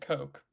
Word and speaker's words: Koch: Having said that, a fellow named Ed, is it pronounced Koch or Koch? Koch, I think. Ed Koch. I pronounce it Coke.